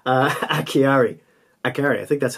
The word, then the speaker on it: Acciari: Pronounce the name wrong. Acciari, I think that's how you say it.